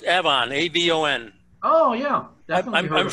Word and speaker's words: Avon: Okay, and it's pronounced Avon, not Avon.